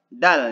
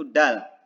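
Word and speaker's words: د: Nah, jadi cara mengucapkannya, ujung lidah harus ditempelkan ya di belakang pangkal gigi seri atas, sama kayak to gitu ya. Cuman nanti pengucapannya beda. Ya. Nah, ketika mengucapkan dal, jangan sampai menghembuskan udara. Ya, contoh harusnya da ya, jadi nggak ada suara, jadi bukan da, jadi bukan da, bukan, tapi da tebal ya, disidahkan maksudnya ditahan gitu.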